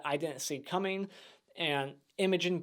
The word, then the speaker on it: Imogen: didn't see coming and Imogen Poots that's how you say her name Imogen she's pretty gorgeous even